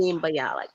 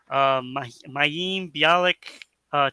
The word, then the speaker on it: Mayim Bialik: Jennings and Mayim Bialik, is that how to pronounce her name? Yeah, that's close Um, enough. they are permanent Dr. hosts. Mayim Bialik.